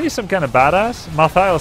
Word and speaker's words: Malthael: Malthael sounds super bad, like mal in French means bad. It's pronounced Malael, like what, Malo?